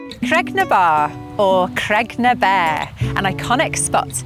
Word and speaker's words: Creg ny Baa: Creg-ny-Baa, Rock of the Cows. The traditional pronunciation of this place name has changed over time to become Creg-ny-Baa, and it has been known as such for several decades now.